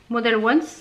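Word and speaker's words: Models Own: Model Once, ça se prononce comme ça.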